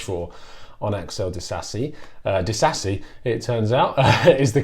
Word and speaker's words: Disasi: could possibly wish for onyx eldest a see Addis a see it turns out is the correct pronunciation I mean from listening to what Jeremy